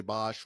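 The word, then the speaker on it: Boushh: Uh, It depends on where you're at. Some people say Boosh, some say Bosch, whatever. It's Bosch, Boosh, Bosch, whatever.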